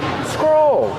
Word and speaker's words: scroll: Scroll. That's the verb. Scroll up. Scroll down. They're phrasal verbs. Use the long O like old and cold.